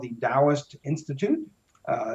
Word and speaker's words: Taoist: a place called The DST Institute uh it's pronounced with a d but spelled with a t TOS Institute if you